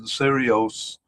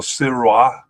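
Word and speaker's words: Sirois: Uh Tom McIll, Jonathan Serios uh or Siroa uh is probably how it's pronounced.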